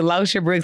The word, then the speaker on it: Locha Brooks: So for anybody that's trying to pronounce it, Locha Brooks, I am the founder of First Class Educator.